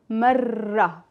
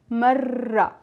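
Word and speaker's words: مرة: So, marra, and then we will have the sound of the ta marbuta, marra.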